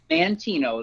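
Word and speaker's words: Manteno: and that is in I hope this I pronounced correctly Mantino Mantino Illinois how do you pronounce that John Mantino that's correct Mantino Illinois okay well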